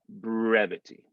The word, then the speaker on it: brevity: that we have or are we not going to say the r in brevity it's not before a consonant because it's r e and it's not at the end of the word so we will get that brevity that american art brevity